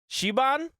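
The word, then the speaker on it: Siobhan: Shiban, is that how you say her name?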